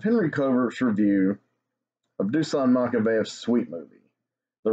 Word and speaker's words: Makavejev: I thought it was Makavejev.